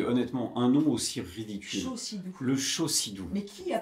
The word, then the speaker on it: Chaussidou: ben non, même pas Chaussidou, ça s'écrit avec un C. C-H-A-U-C, Chaussidou.